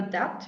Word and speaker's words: debt: that that oh no there's a b silent b here i know i know um again i'd have to search out why that exists in there um you have a debt you have to pay